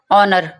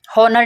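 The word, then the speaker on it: honor: Next है ऑनर, इसको ऑनर पढ़ना है, हॉनर नहीं पढ़ना। जब भी एच के बाद ओ आ जाता है तो एच को साइलेंट कर देते हैं या आ करके आवाज़ निकालते हैं, ठीक है। इसको आ करके आपने याद करना है कि इसमें आप ओ की आवाज़ निकालेंगे, एच की आवाज़ नहीं निकाल।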